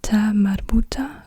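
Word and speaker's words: تاء مربوطة: is the isolated form this is also the T Mara when it has two dots on top of it then it's pronounced like a t why doesn't it do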